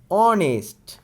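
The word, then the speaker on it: honest: মানে এখানে কি হয়েছে এখানে অ এর মত উচ্চারণ হয়েছে হ এর মত কিন্তু উচ্চারণ হয়নি তার মানে অ দিয়ে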